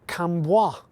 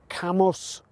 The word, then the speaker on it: Cambois: see just behind me visitors to the area often pronounce The Village's name as kamwa using the French style pronunciation however this is wrong it is pronounced camos the Boi part is